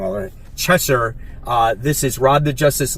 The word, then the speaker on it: Cheshire: We have Cheetah and Cheshire. I say it wrong already. Cheshire.